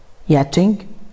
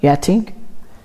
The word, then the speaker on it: yachting: معنى on اللي هي فوق المية، اول حاجة معانا fishing الصيد، yachting على فكرة السي اتش هنا ما بتتنطقش، ما ينفعش نقول يخت، تمام؟ yachting.